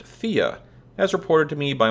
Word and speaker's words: Thea: it said both ways I think it's actually pronounced FIA as reported to me